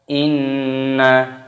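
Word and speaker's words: إنّا: Inna, nun tasdid hukumnya dibaca gunnah, artinya berdengung. Cara membacanya yaitu didengungkan. Inna, seperti itu.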